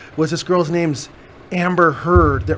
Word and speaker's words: Heard: this girl's name's amber heard and like her name rhymes with turd which is [ __